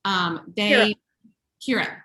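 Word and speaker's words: Ciara: It is, I want to say her name correctly because it's in an Irish name. It's Chiara and Oliver. Kira. See, I was right.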